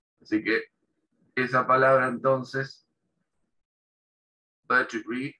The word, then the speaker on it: vertebrae: Y en inglés se pronuncia vertebrae, ¿sí? Es una de las pronunciaciones que tiene. Vertebrae, también se puede pronunciar vertebrae, ¿sí?